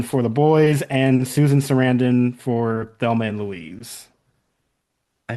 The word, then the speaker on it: Sarandon: Like Saran wrap, like Sarandon? I think she actually has said that is the way you pronounce it, but nobody pronounces it correctly, so she just stopped correcting people.